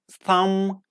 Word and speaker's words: thumb: M and B at the end of a root word with the combination MB, like climb, thumb, come, lamb, crumb, lime, worm, and dumb.